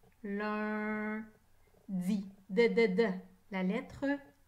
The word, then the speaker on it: lundi: Il y a 5 lettres dans le mot lundi. Lundi. U et N ensemble font le son 1. Lundi.